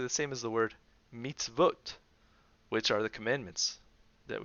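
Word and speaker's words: מִצְוֹת: So this word is pronounced matzot. And this word here is pronounced mitzvot. Here it's vo, and here it's o. So vo and o.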